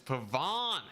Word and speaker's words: pavane: of sles okay wait let's see how to pronounce pavon pavon it's pavon this whole time wait this supposed to be an e at the end of that oh no with an e at the end it is pavane yeah yeah there's